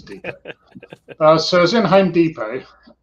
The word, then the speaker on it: Depot: Depot which you know if far us use the English pronunciation would be Home Depot but just does sound a bit silly saying Home Depot when everybody is a Depot so was in Home